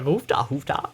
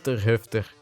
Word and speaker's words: Hufter: They always pronounce it der Hoofda. Because everybody assumes it's German. And I'm like, hey, you're pronouncing it wrong, idiot. You gotta hit those R's a lot harder. Het is de Hufter.